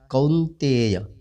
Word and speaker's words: कौन्तेय: उच्चारण है जैसे हिंदी में पढ़ते हैं कौन्तेय, अब संस्कृत में किस तरह ध्यान देना है, कौन्तेय। औ की ध्वनि निकालनी है जैसे कौ, यहाँ लिखा हुआ है कौ, इस तरह ध्वनि निकालनी है।